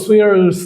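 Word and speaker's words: swears: The snow সুইয়ার্স দ্য ভ্যালাই। দেখেন এটা খুবই গুরুত্বপূর্ণ। এই যে এটা উচ্চারণটা হচ্ছে সুইয়ার্স, অনেকেই অনেকভাবে উচ্চারণ করে এটাকে, ঠিক আছে।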